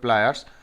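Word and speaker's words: pliers: নিফ মানে হচ্ছে cutting প্লাস যেটাকে বলে। তারপর আছে কি ফুল্লাইয়া, এই ফুল্লাইয়া মানে হচ্ছে প্লায়ার্স যেটাকে আমরা বলি, বা প্লাস যেটাকে বলি, কিন্তু ওটার সঠিক উচ্চারণ হবে প্লায়ার্স।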